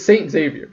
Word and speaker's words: Xavier: It's not Xavier. That's not how you pronounce if you're Xavier. Rich, if you're no, rich, that's not. it's No, that's literally. Where's the E? Xavier. There's an E in the end. It's the At the second end, last yeah. letter. At the beginning, though, where's the E? It's X-A-V. Yeah, so Xavier. you actually say Xavier. Okay. You pronounce the X.